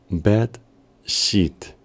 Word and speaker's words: bed sheet: referirnos a la sábana la palabra es bed sheet teniendo cuidado de el sonido e debe sonar como una y prolongada y un sonido de una y prolongada y suave a modo de evitar que se nos confunda su pronunciación con otra palabra bed Y si queremos